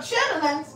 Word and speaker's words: chitterlings: but Lings and color greens with KLA some chitling you don't want that Janet they stink like